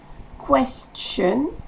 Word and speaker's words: question: Le T-I-O-N se dit ch. Question.